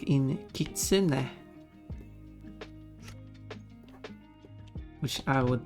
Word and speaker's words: kitsune: But English speaker, like the proper English pronunciation of that word would be kitsune, but that's not the original pronunciation though.